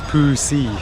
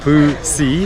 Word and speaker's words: Phu Si: Your pronunciation is not right. It is Phu Si. Phu Si? Okay, Phu Si Hill. No, Phu Si.